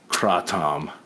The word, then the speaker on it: kratom: kratom now I heard Rogan talking about a kratom yesterday there was a guy that said that should be pronounced for Tom kratom trot Tom yes so so Smitty that's closer to the